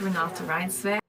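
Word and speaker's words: Renata Reinsve: How do I pronounce it? Hello, my name is Renata Ryinsve. Ranata Rinsve's character is a psychologist, right?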